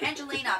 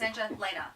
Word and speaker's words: Angelena: They always want to put an I. They want to do Angelina, but it's Angelena.